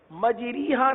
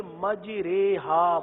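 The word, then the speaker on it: مَجْرٰىهَا: کیونکہ قراءت میں بروایت حفص پورے قرآن میں ایک جگہ پر امالہ آیا ہے اور امالہ اسی طرح کیا جاتا ہے. مجریہا نہیں پڑھتے بلکہ مجریہا پڑھتے ہیں.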